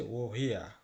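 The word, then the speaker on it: woher: এসেছো লক্ষ্য করুন এটার উচ্চারণ কিন্তু ওহারনা এটার উচ্চারণ হচ্ছে ওহিয়া ঠিক আছে লেসেন পড়ুন এবং শুনুন এমপটেন্ট মানে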